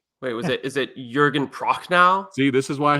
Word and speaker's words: Jürgen Prochnow: Eric, I will let you pronounce the German actor's name. Wait, is it Jürgen Prochnow?